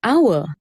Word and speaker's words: hour: used similarly the word hour starts with the consonant h but begins with the vowel sound so the h is silent so you use the